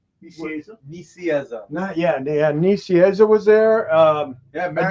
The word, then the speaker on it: Nicieza: Nicieza. Nicieza.